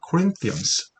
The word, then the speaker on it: Corinthians: Corinthians, th 사운드는 번데기 발음이라고 하죠.